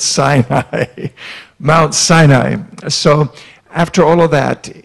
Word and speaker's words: Sinai: a Jew they'll just they'll just shake it's Sinai everyone say sign I'm it's not sunny I its SIA Mount Sinai so after all of that we know about